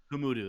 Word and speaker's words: Humudu: Humudu. Humudu. That's how you pronounce it.